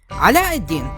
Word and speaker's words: Aladdin: I think it's more appropriate for me to use the accurate name pronunciations here, so excuse me for saying names in a way you're not used to. Ala-ad-Din is one of the